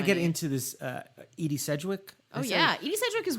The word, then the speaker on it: Sedgwick: Sedgwick, am I saying it right?